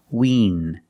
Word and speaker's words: wean: E, make the E sound. Wean. And the N is a regular N. The tip of the tongue is touching the roof of the mouth near the front, just behind the teeth.